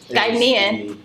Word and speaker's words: Ghanaian: No, that's Guyana. Oh my gosh. Okay. So Ghanaian. Ghanaian. Okay. I just learned something. I've learned how to say it right.